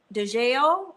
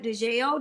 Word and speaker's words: DeJale: I am DeJale, kind of like Danielle, but DeJale.